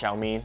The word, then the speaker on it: Xiaomi: make some improvement yes the brand name is pronounced xiaomi and you would not know that by looking